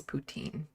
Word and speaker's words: Putin: Putin I still love the French pronunciation of his name as poutin that's a real thing